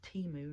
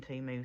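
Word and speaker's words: Temu: U die cuts that I got off of Teemu and my daughter told me I was saying it wrong so it is Teemu not whatever I was saying I know it I was saying teu sorry TAMU or TAMU however you want to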